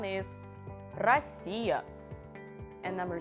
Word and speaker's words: Россия: Number 1 is Россия, and number 2 is рубль. So can you try to pronounce the same words with P sound?